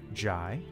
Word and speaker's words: Jay: Wilkins hey Greedo firstly my name is pronounced like Jai don't worry about I